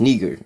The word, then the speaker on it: Niger: Or it's pronounced nigger. It's actually pronounced nigger, just like you would say nigger.